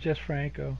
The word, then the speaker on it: Jesús Franco: Because it looks like Jesus. Well, it's Jesus, but he's also known as Jesús Franco.